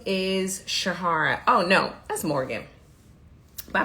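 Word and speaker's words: Sherhara: interesting thing about it when I say my name it usually sounds like sh like sh Shahara but it's sure Shara but I don't always say sure you know I I'm like my name is Shara I just say Shahara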